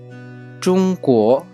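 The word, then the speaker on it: 中国: China की pronunciation 中国，中国， चुंगको, चुंगको।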